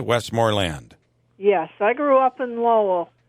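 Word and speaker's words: Westmoreland: and and and and you put the emphasis on on land westmor land yes I grew up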